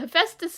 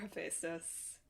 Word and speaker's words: Hephaestus: I'm the big book of Greek myths in my childhood has made me 95% confident in that pronunciation, unlike everything else. Which doesn't make sense because it's spelled stupidly.